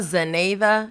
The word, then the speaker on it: Zeneyda: Rosa Zeneyda Diaz. Did I say it wrong? You were so close. It's Rosa Zeneyda Diaz.